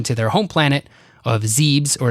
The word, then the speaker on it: Zebes: their home planet of zebes or zebus i don't know how you pronounce that z-e-b-e-s zebes or zebus v-e-b-e-s yeah i think it would be zeebs like thebes yeah maybe you're right